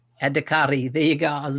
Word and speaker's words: Adhikari: Adhikari. Adhikari.